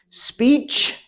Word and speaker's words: speech: have speech speech if you leave this off you're just saying speed you know you want to have speech speech it's not two syllables just one syllable but it has to have the ending sound ch speech speech speech and religion